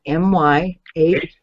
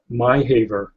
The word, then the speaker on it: Myhaver: And Myhaver is spelled M-Y-H-A-V-E-R. Myhaver. It's pronounced not your Haver, Myhaver.